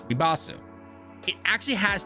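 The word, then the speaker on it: リバース: When you take Rebirth and you put it in Japanese, it's pronounced Ribasu.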